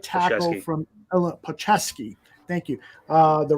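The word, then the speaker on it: Palczewski: any thoughts on Alex paulcheski I think it's Paul chisky the right tackle from Ella pachevski thank you uh the right tackle from Illinois uh Neil you know how to pronounce his last name so uh you got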